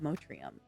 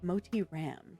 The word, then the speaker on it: Motiram: publisher of Light of Motrium. Uh, sorry, Motri, Moti Ram, because I keep saying it wrong.